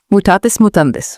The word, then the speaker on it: mutatis mutandis: Mutatus mutandis. Oo. Okay. Latin. How do you say it again? Mutetes. Mutist. Mutatis mutandis.